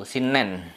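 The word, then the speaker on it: 新年: Kemudian kalau kanji baru shin atau atarasi di belakangnya nen, itu jadinya tahun baru, shinnen.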